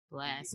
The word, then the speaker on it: BLXST: Blast. BLXT. BLXST. Right. Wow. Yeah. It's like Blast with an X instead of an A.